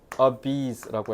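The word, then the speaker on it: obese: 이거 발음은 오베세가 아니라 a bees라고 해야 돼.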